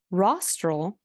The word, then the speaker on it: rostral: the cranium um actually rostral rhymes with nostril like on your nose so if it helps think of rostral like your nostril and it's toward the